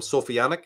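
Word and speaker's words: Sophianic: just for convenience I call them sofianic because it rhymes with satanic and so thick because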